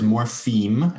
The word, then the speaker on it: morpheme: We're not talking about the chemical substance morphine, spelled with I-N-E. The word is morpheme, M-O-R-P-H-E-M-E.